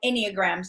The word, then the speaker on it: enneagrams: in your book you talk about something called enneagrams did I say it correctly yes okay was